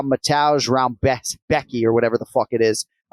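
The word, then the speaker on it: Rebecki: the name of matauge round Becky or rambetsky right it's spelled r-e-b-e-c-k-i so it looks like Rebecca on paper the Polish names historically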